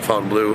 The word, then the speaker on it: Fontainebleau: Some people pronounce it one way, I pronounce it Fountain Blue.